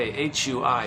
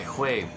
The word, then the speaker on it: Hui: I'm gonna guess you pronounce it by putting the words who and then way, like who knows the way, right? So put the who and the way, blend it together, Hui, spelled H-U-I.